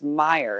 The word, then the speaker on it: Meyer: And so, you know, about people saying, oh, you should pronounce your last name Mayer. And he's like, it's Meyer. And they're like, no, it should be Mayer. Because he's like, listen, I can spell it Q-M-P-Y-X. My last name is Meyer.